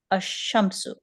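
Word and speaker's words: الشمس: with Adam merged assimilated so when Al Lam is prefix to a noun which begins with the sun letter the Lamb of Al if Lam is not pronounced but written and instead the first letter of the noun takes a sh for example a Shamu so here Al Lam is not Lam is not being pronounced okay the 14 Sun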